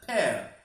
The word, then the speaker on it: pear: नाशपाती, इसकी प्रोनाउंसिएशन में आपको ध्यान रखना है, इसको गलती से पियर नहीं बोलना, इसको हमेशा बोला था pear, pear. पपीता, papaya.